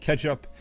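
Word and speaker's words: k3sup: K3s up, pronounced Ketchup, is a bootstrap for working with K3s over SSH.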